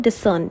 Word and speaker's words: discern: इसकी प्रोनाउंसिएशन भी ऐसी है डिसर्न। ठीक है? ज्यादा फोकस सर्न पे करना है।